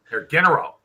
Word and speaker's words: Herr General: You got to have that hard G on the general. General. Herr General.